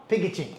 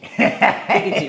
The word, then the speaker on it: Pikachu: No, Pikachu. Pikachu.